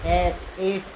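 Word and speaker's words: eight: दोनों साइलेंट हो जाएंगे जैसे ए आई जी हा टी तो इसे आते पढ़ेंगे क्या पढ़ने हैं 8 जीएस साइलेंट राहत है ये सी ए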